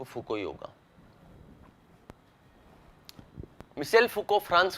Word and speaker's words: Foucault: सही जो उच्चारण है इसका वो मिशेल फुको ही है। फ्रेंच व्यक्ति है और फ्रांस में जो प्रोनाउंसिएशन होता है फ्रेंच लैंग्वेज में, वो इसी तरीके से होता है, मिशेल फुको।